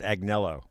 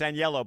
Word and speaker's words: Agnello: joke is I'm sorry is pronounced Agnello that's what I used to say I know it's not but I like now no it's anello but I like now